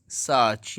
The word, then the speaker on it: search: IN, SEARCH, सर्च, यहाँ पर भी आर को नहीं पढ़ा जाएगा। हम इसको पढ़ते हैं सर्च, लेकिन इसको पढ़ेंगे सर्च, आर को नहीं पढ़ेंगे।